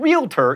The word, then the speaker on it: realtor: prescription not perscription and realtor is only two syllables not three same with jewelry by